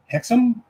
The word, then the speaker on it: Hexum: The series starred John Eric Hexum, I believe is how it's pronounced, and Mino Palucci.